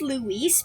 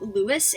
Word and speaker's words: Luis: Okay, when I first played the game, I thought it was pronounced Luis because of how it was spelled, but in Security Breach, we hear him mentioned out loud, and it's actually pronounced Lewis, and I hate it so much.